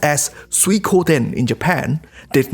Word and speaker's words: Suikoden: sometime in 1624 but water margin which is pronounced as suikoden in japan did not become immediately popular it